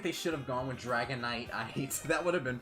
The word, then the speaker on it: Dragonite: So usually like you know how dragon knight the I is pronounced I like it's not dragon nit like it's this why this is why I'm a stem major because I can't describe English to save my life. My point meaning the way that the I is pronounced I in Dragonite is because there's like an e at the very end of it.